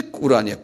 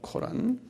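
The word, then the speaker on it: Quran: 이게 이제 꿀란이야. 꿀란. K 전부에다 찍고 r 코란이에요. 코란.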